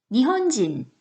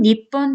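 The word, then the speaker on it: 日本: 일본인, 니혼진. 자, 일본은요? 니혼. 자, 우리 일본은요, 강조해서 쓸 때는 니뽕이라고도 해요. 그래서 일반적으로는 니혼, 니폰 다 쓸 수 있거든요.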